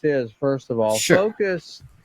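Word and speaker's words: Fooocus: Focus, it's Foocus. Focus. It's Focus is what they pronounce. Many people pronounce. It's 3 O's.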